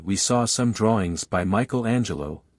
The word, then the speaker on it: Michelangelo: saw some drawings by Michelangelo these Italians call him Mel Angelo and Leonardo da Vinci